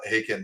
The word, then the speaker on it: Haken: I have Josiah uh haken there tell me it rhymes with bacon so I almost said